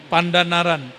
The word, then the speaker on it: Pandanaran: Begitu bacanya Kiai. Benar, sahih. Pandanaran.